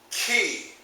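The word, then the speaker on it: chi: also as common tongue twister for me is pronounced key and I use the word chemical warfare like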